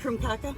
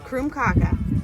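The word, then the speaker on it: krumkake: So, it's How do you say it again? Krumkaka. Krumkaka. And it's Norwegian.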